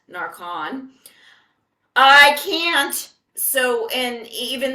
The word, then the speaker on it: Narcan: But I can't oust this TSA agent for not knowing Narcan, spelled Narcan, pronounced Narcon.